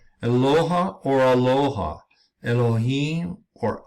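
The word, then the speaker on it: אֱלֹהִים: The first letter, Aleph, which we see here, this letter right here, Aleph, naturally would have the ah sound, as in aloha, but the Masoretes gave it an eh sound by adding the dots under the Aleph called hataf segol.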